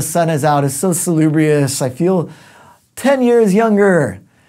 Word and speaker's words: salubrious: Ooh, that's just fun to say, salubrious. That's how you pronounce it, you don't have to use that exact intonation, but salubrious means something that is healthy, health-giving.